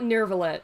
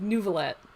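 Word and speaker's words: Neuvillette: don't know hummus is it's not nervelette it's like nouveaulette this is gonna be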